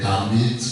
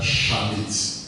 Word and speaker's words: Chamite: Donc, Kamite, comme je l'ai expliqué, ça vient de chat. En réalité, la bonne prononciation, ça doit être Chamite.